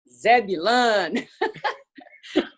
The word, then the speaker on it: Zebulon: raleigh north carolina uh is it called zebulun or zebulon i don't even know how to pronounce it zebulun people in raleigh don't